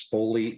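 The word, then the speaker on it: Spogli: going to mispronounce this spoley institute the Freeman spoley Institute that's SP the G is not silent that's what I was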